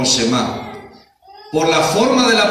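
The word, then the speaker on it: שמע: se le conoce como una palabra que se pronuncia como shemá por la forma de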